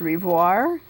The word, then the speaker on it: Rivoiro: to giacomo rivoiro um it's usually pronounced revoir but i think um maybe officially it had an o there just uh because they